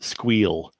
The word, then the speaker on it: SQL: off but just like my perpetual push to pronounce sql as squeal never seems to go anywhere that's great yeah